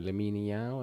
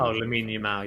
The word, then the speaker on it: Lamine Yamal: No, Lamine Yao. How do you say his Oh, name? Lamine Yamal, yeah, Yeah, yeah.